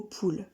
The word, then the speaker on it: poule: Prenons maintenant le mot poule. Poule a deux syllabes à l'écrit. Pou-le. Mais quand on le prononce, poule, on ne fait qu'une seule unité de souffle.